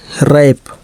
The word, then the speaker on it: wrap: WRONG wrong, wrong का मतलब गलत, W का उच्चारण नहीं हुआ। WRAP रैप, रैप का मतलब लपेटना।